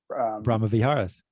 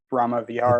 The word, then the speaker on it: Brahma Viharas: The Brahma Viharas. Brahma Viharas.